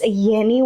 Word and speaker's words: Yenni: whole entire life that their name is Yenni with the Y. And so I think it's so cool because people think it's Jenny and then when they